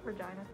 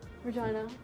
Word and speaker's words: Regina: tune Saskatoon Regina what Regina Regina yeah it's pronounced vagina yep going to Australia